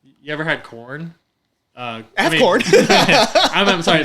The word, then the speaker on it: Quorn: So like, You ever had corn? I have corn. I'm sorry. The it's spelled QUORN.